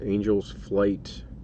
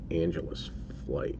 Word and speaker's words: Angels Flight: that card los angeles angels flight yeah i should say angel's flight and not angela's flight isn't it angel's flight